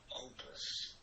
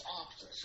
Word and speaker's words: Optus: Opus. Or Optus. Oh, it's Optus. Okay. I pronounced it right.